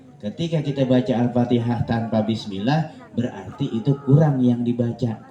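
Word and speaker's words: بسم الله: di atas huruf lam maka bacanya harus bismillah cuma pada ee pembacaan milnya ini jangan ditahan lama-lama ya bismillah jangan bismill jangan ya karena di situ bukan hukuman bukan hukum gunah Jadi enggak boleh ditahan lama-lama ya hukum gunah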